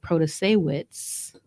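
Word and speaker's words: Protasiewicz: so if um the more the liberal-backed candidate proto-sawitz I see I learned how to say her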